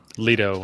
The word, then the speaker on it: Lido: Kenwood, is I've got is it Lido or Lido? Lido is how I pronounce it.